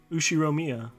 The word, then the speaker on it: Ushiromiya: you read it no first part is my uh family name ushi romia it's a fairly plausible japanese pronunciation so far problem is